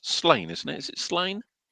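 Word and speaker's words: Sláine: is I think it's Slain, isn't it? Is it Slain? Was it Slain? which he proved definitively is not pronounced Slania, like some Ponzi people at my school always used to pretend.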